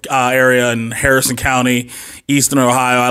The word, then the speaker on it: Ohio: He already mispronounced the name of my town. It is Cadiz, Ohio. It's Cadiz, Ohio.